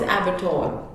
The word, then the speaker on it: abattoir: I won't just suggest building, but I would say a place where animals are butchered. That is abattoir.